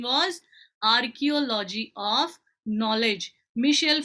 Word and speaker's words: Michel: It should be pronounced as Michel Foucault. He was a French historian. Okay, he was a French historian. It is Michel, not Michael, and it is not Foucault, it is Foucault. Okay, it's a French name, so you should pronounce it like that.